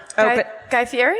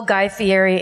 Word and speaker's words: Guy Fieri: pronunciation of his name the correct pronunciation is fairy but he says it's feti guy fieri guys that's it guy fieri because it sounds like